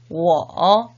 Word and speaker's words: 我: 그렇다면 1인칭의 나 어떻게 발음했었나요? 맞습니다. 워라고 표현을 했었죠. 2인칭의 너, 니, 3인칭의 그 또는 그녀는 발음이 같았었죠. 타라고 읽었었죠. 자, 이 3가지를 머릿속에 기억하면서 3번씩 한번 읽어보도록 하겠습니다. 我, 니, 타.